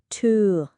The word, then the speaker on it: two: อีก ครั้ง ครับ ต่อ ด้วย to ค่ะ แปล ว่า 2 ออก เสียง ลาก เสียง อู ยาว นิด นึง นะ คะ two และ อีก ครั้ง ค่ะ